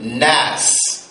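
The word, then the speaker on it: ناس: Draw a line across from mammalian and put the word nas. N-A. Make it double A so you know how to pronounce it.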